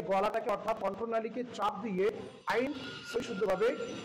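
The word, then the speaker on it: ع: এই যে আইন, এটাকে একটু কষ্ট করে উচ্চারণ করতে হয়।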